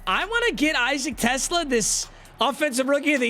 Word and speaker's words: TeSlaa: I asked Isaac in person, how do you pronounce your name? Because it seems like announcers always struggle with it. It is TeSlaa, except instead of it's So TeSlaa.